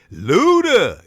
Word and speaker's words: Luda: said that already but you got to say his name name like that Luda you know ghetto what